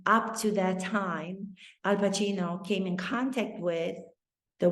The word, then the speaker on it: Pacino: correctly they weren't saying pakino they weren't saying pasino he strasbord knew to pronounce his name Al Pacino and he felt as